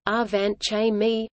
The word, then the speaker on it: Angewandte Chemie: Angewandte Chemie, German pronunciation, Angewandte Chemie, meaning applied chemistry, is